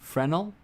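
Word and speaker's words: Fresnel: No, you piece of The S is S is silent in Fresno. Frenel fres fraal.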